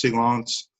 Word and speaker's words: silence: good yeah it's it's it's written silence it's pronounced silence you will sometimes hear made a silence if the coast guards work in a case